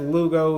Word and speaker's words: Lugo: Marlins going up against Lugo I believe Seth Lugo is how you pronounce his name yeah I like Miami man